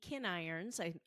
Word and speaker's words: Kinirons: episodes, adoptive mom Francine Appy, birth mom Katie Kinirons, that's how you pronounce it, Mejia, and adoptee Allison Olson.